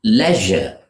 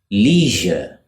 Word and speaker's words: leisure: This is pronounced leisure by British English speakers. It means free time, when you are not occupied, when you're doing nothing, and you can relax and enjoy yourself. Most Americans, however, would pronounce it leisure, leisure.